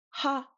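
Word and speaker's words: ཧ: And now our final row is ha and a. Or sorry, ha and a. They're kind of like middle tone. They're not really high or low. This first one, ha, just like an English h.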